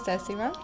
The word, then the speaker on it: Décima: With an accent. And I do that on purpose because I was like, you know what? I want a name where you can, pronounce it in English and in Spanish and still sounds the same.